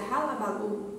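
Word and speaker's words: hullabaloo: Se pronuncia halabalu, é uma palavra inglesa que significa algazarra.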